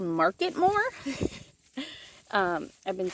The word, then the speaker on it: Marketmore: it's called mmore I think it's actually called marketmore um I've been saying it wrong but yeah